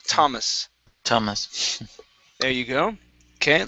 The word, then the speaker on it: Thomas: time instead of Thomas okay the name t Thomas Thomas there you go okay let's practice discolored teeth okay so when you pronounce teeth it's instead of th teeth discolored